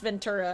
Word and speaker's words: Ventura: This is just a normal T."